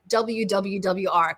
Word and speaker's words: Claire: Yes, I say it CLAWWWR.